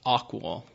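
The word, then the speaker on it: AQAL: in has the acronym AQA L which is pronounced aqual so that kind of gives you an overarching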